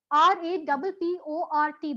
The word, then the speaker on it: rapport: RAPPORT. The last T is here. It's not really. The sound is silent.